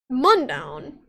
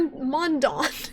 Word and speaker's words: Mundaun: what you want because it's a video game mondown mondown mor mondon i think it's swiss i think it's a